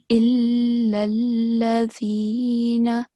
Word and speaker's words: إلا الذين: So first of all, this verse, you have to stress on lam, the letter lam, both times. So, illallazina.